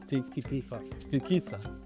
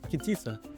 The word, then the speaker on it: Kitisa: Kita, Tikisa Kitisa no it's Kitisa Kitisa restaurant in Tanga.